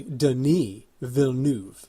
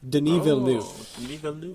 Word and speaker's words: Denis Villeneuve: to look this up to see how to pronounce his name but it looks it looks like Denis but it's actually Denis Villeneuve Denis velu and this was his first English film which